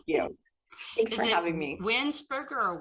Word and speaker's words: Vanwynsberghe: Winsberger or Weinsberger? Winsberger? It's Vanwynsberghe. Oh, shoot. I was right. 3 syllables.